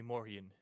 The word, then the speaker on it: Morjin: You can simply call me Morian. And for your spelling, it's Morjin. The J is pronounced like a Y.